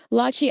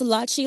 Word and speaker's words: Lachi: Voiceover mispronounces Lachi as Lachi. And sometimes because I hear it so much, I do the same thing. Her name is pronounced Latchi like Versace.